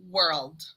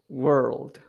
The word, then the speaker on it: world: case we would say world world it's almost like you're saying it with an ER like wrld World exactly yeah perfect